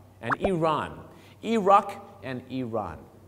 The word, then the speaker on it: Iran: เ อ ง ค รั บ Iraq and Iran.